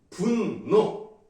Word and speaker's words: 분노: 그렇게 따라 적으면 돼요 분노 노라고 하는게 맞지만 대로 키로 에란이라고 해도